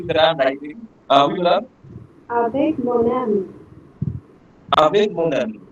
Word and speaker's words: avec: Je joue avec mon ami. Okay. Sir, Next one. with pronunciation, please explain It again. will be avec.